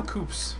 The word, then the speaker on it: Koops: Did you know Koops rhymes with poops?